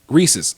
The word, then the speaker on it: Reese's: So if it's the peanut butter cup, it's a Reese's. Reese's.